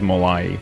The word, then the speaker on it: Malai: it's very interesting cuz you're pronouncing it the way the way that I would pronounce it but uh it's kind of the the American way it is Malai okay Malai yeah okay